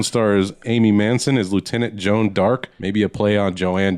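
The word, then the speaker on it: Jeanne d'Arc: Jon of Arc in French is pronounced Joan Dark.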